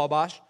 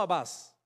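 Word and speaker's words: Atbash: Además, fueron capaces de crear una ley de interpretación conocida como Abash, no Abbas, Abash.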